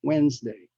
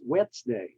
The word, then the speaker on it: Wednesday: Str stress a work Wednesday and some people pronounce it as wet day because of the D but the D there is silent so don't pay attention to it how you say it